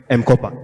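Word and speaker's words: M-KOPA: Some of the fintech challenges that you can see on the market is it's spelled MKOPA. So what they do is that they provide MCOPA, yes.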